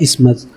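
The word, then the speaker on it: isthmus: इसका प्रोनाउंसिएशन कैसे होता है, इस्मस, ओके।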